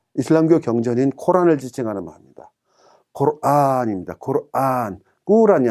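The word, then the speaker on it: قرآن: 이것을 꾸란이라고 사람들이 읽습니다. 그건 절대로 아닙니다. 코란입니다. 안에 장모음이 들어있습니다. 코란이란 말은 경이란 뜻입니다. 읽을 경, 불경, 성경 하는 것처럼 그 경을 지칭하는 말입니다. 근데 꾸란이라고 읽으면 그런 읽는다는 의미가 전혀 없어집니다. 그래서 절대로 되지 않습니다.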